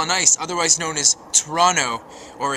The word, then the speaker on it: Toronto: nice otherwise known as Toronto or as we say in the proper three syllabic format Toronto say it like me wishing you the very